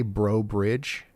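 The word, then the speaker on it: Breaux Bridge: how do you say bro Bridge it's pronounced bro Bridge the bro sounds just like it does in brother and Bridge is just like the structure all right take me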